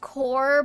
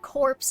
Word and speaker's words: corps: See, that's one of those things where um I know it's pronounced core, but I'll probably say it corpse in my head.